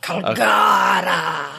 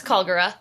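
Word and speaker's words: Kalgara: In the dub, they definitely put the more emphasis on Calgura. Instead of putting the extra emphasis on the ga. Calgara! Oh, there's no ga. It's No, it's Calgura.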